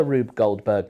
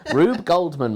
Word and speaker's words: Rube Goldberg: It's also Rube Goldberg machine. Yeah. So So you've said it wrong you've done it wrong again. Rube Goldman machine.